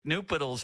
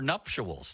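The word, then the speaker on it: nuptials: I mistook nupals for for nuptuals. That's how you say it, isn't it?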